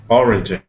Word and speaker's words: origin: okay region and then the other one is origin origin okay origin yeah absolutely that's better um or yes all